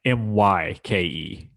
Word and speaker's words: Myke: spelled with a Y, Myke.